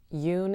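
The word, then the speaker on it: Yün: real legal first name Yun is the correct way to pronounce my real legal middle name I am not in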